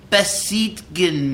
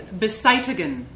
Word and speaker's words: beseitigen: What does besiehtgen mean? It's beseitigen. It means eliminate.